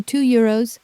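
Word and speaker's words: deux euros: 2 euros On paper that S at the end is silent, but in front of a vowel it wakes up as a Z.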